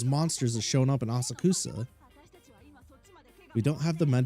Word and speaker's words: Asakusa: The location is Asakusa. Head over. Asakusa? Oh, I've been saying it wrong. Asakasa?